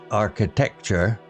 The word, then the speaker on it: architecture: The word architecture, pronounced architecture, was one of his favorites to share with Lady Hermione, who loved learning new words.